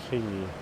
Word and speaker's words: quay: Park the ice cream van down by the Atlantic Key. Why is it pronounced key when it's spelled quay?